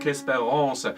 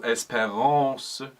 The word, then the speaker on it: espérance: And of course, because this is French, on those strong syllables lean in, and then on the syllables towards the ends of the words, for example, espérance, make sure the last syllable is considerably lighter.